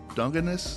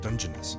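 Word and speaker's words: Dungeness: King and snow crab legs blue crab uh dungus is that how you say it dungeoness dungon crab I think don't qu me I I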